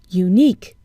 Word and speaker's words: unique: Unique. We see a U, but we hear a consonant sound, U.